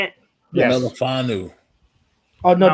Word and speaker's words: Melifonwu: Melifonwu.